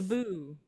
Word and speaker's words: Dabus: Where the Dabus. The Daboo.